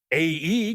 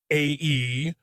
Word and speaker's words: Æ: Musk explained on a show that it's X, the letter AE, pronounced like ash, and a 12 is just his part.